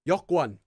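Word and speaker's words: 여권: It's always written as Yeokwon, but the pronunciation is always Yeokwon.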